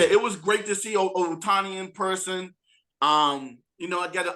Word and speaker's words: Ohtani: I did get a chance to see Shohei Ohtani. That's how you pronounce his last name, right?